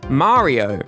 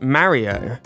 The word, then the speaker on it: Mario: It's Mah-rio not Marry-o.” “British people love to say Marry-o” “He's MARIO, not MARRY-OH.”